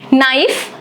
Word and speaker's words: knife: Knife, silent K.